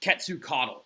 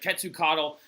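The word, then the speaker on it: Quetzalcoatl: to prevent the onslaught of their God name ketsu Caudill right cut to coddle you don't need to know how to spell that but if you want to it's qu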